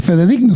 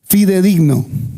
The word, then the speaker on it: fidedigno: Pero hay otra palabra, este fedigno se dice fidedigno.